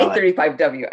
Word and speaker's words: 35W: Do you say 35W? You say 35W.